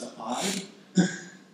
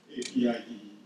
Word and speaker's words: APIDE: First of all, I'd like to congratulate Jim Omiya and Keio University for launching this great initiative really called, pronounce it APIDE, APIDE.